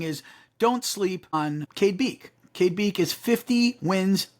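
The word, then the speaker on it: Beke: 1A is Cade beak I think it's beak it's be e ke so I think that's pronounced beak Kade beak from mck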